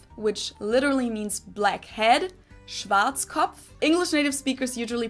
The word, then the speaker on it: Schwarzkopf: In German, we pronounce it Schwarzkopf, which literally means black head. Schwarzkopf.